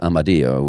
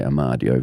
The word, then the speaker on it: Amadio: They actually pronounce it Amadio, which is the original Italian, but English people would say Amadio.